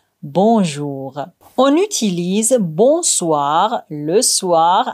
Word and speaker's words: bonsoir: Mais attention, dans bonjour et bonsoir, le N se prononce pas complètement, il est nasal. On dit plutôt bonjour, bonsoir avec un son qui sort par le nez.